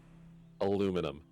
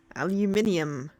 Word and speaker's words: aluminum: Aluminum. Well, that's because it's spelt differently. We have an No, extra I was U just in like, it. Aluminum, aluminium, aluminum, aluminum.